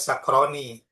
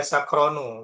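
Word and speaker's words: سكرانُ: Kalau alif nun tasniyah, ini bacanya sakroni. Tapi ini dibaca sakronu, wazan-wazan fa'lanu.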